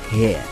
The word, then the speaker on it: here: Le H en anglais est toujours un H aspiré, prononcé ha. Here. Here. Très bien. Here. Here. Il est toujours très important de prononcer le H.